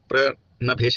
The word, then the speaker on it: प्रणभेश: ठीक है, प्रणभेश है, प्रणभेश, प्रणभेश है, प्रभंस में गलत उच्चारण कर दिया, प्रणभेश है, प्रणभेश आपका नाम, प्रणभेश।